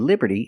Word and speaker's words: Liberty: Liberty and we see the T and Liberty is between vowels so it's pronounced like a fast D Liberty Liberty not Liberty T but Liberty the Statue of Liberty